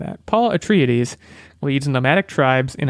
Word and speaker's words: Atreides: release date is the one-line summary is Paul Atreides again might be mispronouncing that Paul Atreides leads a nomadic tribes in a battle to